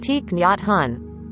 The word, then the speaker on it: Thich Nhat Hanh: multiple names one being thich nyat han pronounced te han was named nguyen din